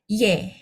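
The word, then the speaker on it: 얘: Karena ini ada dua panah makanya harus ditambah Y di depan. Jadi bacanya Y. Oke. Ye.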